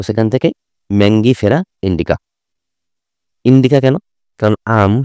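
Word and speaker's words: Mangifera: মনে রাখবা তারপরে আম ম্যাঙ্গিফেরা ইন্ডিকা নট ম্যাগনিফেরা ম্যাঙ্গিফেরা আম ইংরেজি কি ম্যাঙ্গো তো সেখান থেকে ম্যাঙ্গিফেরা ইন্ডিকা ইন্ডিকা কেন কারণ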